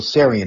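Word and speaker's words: Tsarion: name is um michael sarian and the the t is silent he's originally irish but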